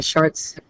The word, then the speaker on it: Chartres: So there is close to 100 square meters worth of length for that rose window in the Chartres. French students, you can pronounce that a lot better than mine.